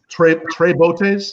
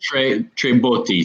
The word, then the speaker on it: Tre Botti: So I can imagine the Tre Bottes, is how you say it? Tre Botti, 3-barrel.